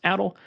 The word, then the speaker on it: ADL: uh it is pronounced adle um as in a status Affliction from Final Fantasy uh if you're familiar